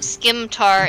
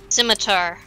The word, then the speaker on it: scimitar: No, it's not skimtar, it's scimitar. That's how it's pronounced.